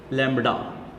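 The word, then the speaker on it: lambda: इसको आपने क्या प्रोनाउंस करना है? लैम्बडा प्रोनाउंस इस तरह से करना है आपने।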